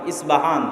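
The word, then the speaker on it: أصفهان: আমরা প উচ্চারণ করি ইস্পাহান, আরবিতে এটা উচ্চারণ হয় না। আরবিতে হয় আল আসবাহানি, বা উচ্চারণ হয় ইসবাহান বা আসবাহানি।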